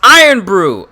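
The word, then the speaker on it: Irn-Bru: is pronounced iron oh so it's called Oh pronounced iron Bru okay so I was the one pronouncing it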